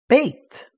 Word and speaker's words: bet: one and that is the letter bet or some pronounce it as bait and bait is like our letter b b for ball and let's